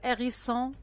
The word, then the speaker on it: hérisson: Le hérisson, alors H muet et pas de liaison.